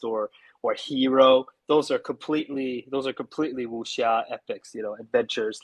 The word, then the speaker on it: wuxia: So what I specifically write, I write in a genre called wuxia. It's spelled Sure. Wxia, wuxia. Okay. So it's kind of like if you say whoosh and then ya, you've got it. Wusha.